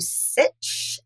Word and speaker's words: Sitch: So if you are on the interweb, as my pop calls it, you go to Sitch, Sitch, Sitch rhymes with Burich.